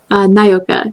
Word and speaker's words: Nyoka: But am I pronouncing the name correctly? It's a Nyoka? Nyoka, yeah.